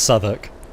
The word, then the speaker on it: Southwark: I know it's pronounced Southwark.